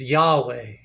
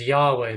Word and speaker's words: Yahweh: in English and uh when you try to pronounce the tetragram the tetragrammaton it's uh it's Yahweh a Jehovah is a bad translation it's a better translation is Yahweh though they argue not everybody agrees um but